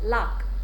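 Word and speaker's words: lough: some old pronunciation like l o u g h is pronounced luck don't ask me why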